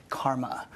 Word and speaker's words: CCRMA: by the way that shortens the CCRMA in this pronounced Karma I direct the Stanford